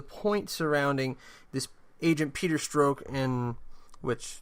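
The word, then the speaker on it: Strzok: surrounding this agent Peter stroke in which his name is not spelled like that I don't know why it's pronounced that way Peter stroke and director raise FBI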